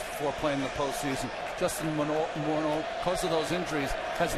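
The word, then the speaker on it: Morneau: balls to strikes to Moro that's the way he prefers to hear his name pronounced for years and years we said Justin morau prefers more out remember he was he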